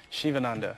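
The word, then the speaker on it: Sivananda: a student of yoga yoga yes and it's pronounced shivananda shivananda yoga yes shivananda yoga for me represents you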